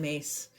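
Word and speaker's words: Myss: contracts look up Caroline mace uh the last name is spelled m yss Caroline mace very powerful her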